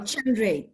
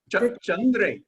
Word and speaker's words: Chandra: your first name sure the first sound is cha like in ch chair so chandra that's about it chandra okay i know you